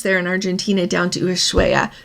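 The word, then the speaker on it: Ushuaia: in Argentina down to ushuaya ushue I think is how you say it when we were there that's what it sounded like how people said it and that is where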